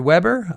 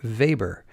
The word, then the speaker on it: Weber: I've heard Weber, I've heard Weber. I've looked all over the internet, I've informally surveyed my colleagues in academia, and it's about 50-50. The Weber pronunciation is the Americanized style, the Americanized version of his name, and Weber is the more European pronunciation.